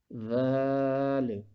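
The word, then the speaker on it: ذال: Dhal. When the tip of the tongue touches the edges of the upper front two teeth, dhal.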